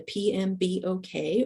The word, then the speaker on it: PMBOK: document it in the PMB okay or we pronounce that pmbok that stands for the project management body of knowledge but you will hear it referred to by its acronym pmbok um and the methodology